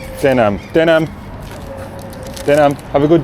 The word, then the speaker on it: tänan: How do you say thank you in Estonian? Tänan. Tänan.